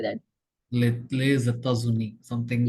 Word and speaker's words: États-Unis: That is a critical word to pronounce. Okay. So how do you say that? Les États-Unis, something like Yes, Zeta Zuni, yes.